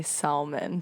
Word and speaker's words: salmon: Next time I go to the store, I'm going to say salmon to someone. Hey, where's the salmon? Is it a silent L? I think so.